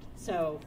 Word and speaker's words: su: a very soft beat, so tsuku. Okay, everybody say tsuku? Tsuku. All right, great. And the last beat is a silent beat, and we call this su. It's spelled S-U, so we go s, and we'll play a silent beat, so.